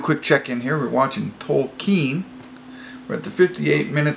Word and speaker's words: Tolkien: check-in here we're watching tokine we're at the 58th minute 36 seconds I know that is he corrects one of his professors so he pronounces his name so it's told keen so and it's just